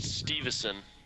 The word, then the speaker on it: Stuyvesant: I found out that Stuyvesant, or whatever, is pronounced Stevenson.